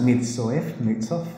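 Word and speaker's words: Mirzoeff: Y el otro autor que es clave en esto es, aquí está Nicholas Mirtzoff, segundo renglón ahí arriba, Nicholas Mirtzoff, se pronuncia, lo pronuncia él.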